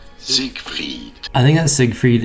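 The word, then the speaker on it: Siegfried: How the Zeke Freed. This is normally pronounced as Zig Freed.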